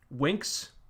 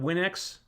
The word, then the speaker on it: WandaVision: really interested in that winks oh is i pronouncing it winks not win x oh it's a play on wings oh okay i've been